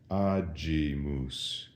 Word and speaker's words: agimus: When there was an I following the G in ecclesiastical Latin, that softened the G. We said agimus.